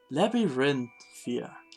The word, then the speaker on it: Labyrinthia: I will have a hard time every single time pronouncing that word. Labyrinthia, isn't it?